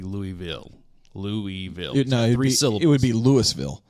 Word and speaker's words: Louisville: to spelling yeah but but it's Louisville yeah but phonetically it's three syllables if you're from the south it's about one and a half it's about one and a half is what it is yeah